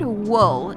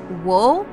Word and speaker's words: wool: The word wool is apparently hard to say for my mom. She tends to say wool, which is, I suppose, a correct pronunciation of the OO sound, but it's wool. Ull. Ull.